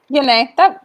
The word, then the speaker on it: Yene: Yene? Is that the right way to say it? Yene.